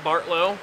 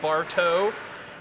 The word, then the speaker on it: Bartow: it's BA R T my last name is not Bartlow is Bartow like you go to a bar and then you get towed afterwards not like you